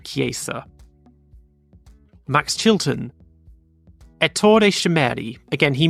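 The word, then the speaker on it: Cesaris: cheeseburg Eddie cha andreaa I used to say cha but I was told it's actually kesa Max Chilton shimi again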